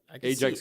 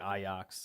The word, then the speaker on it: Ajax: saying it right actually they say like I ox yes Ajax is how I always had said it have you seen